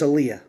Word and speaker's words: Aleia: When we named my daughter, her name is Aaliyah. It's spelled Aleia instead of the traditional way people spell it.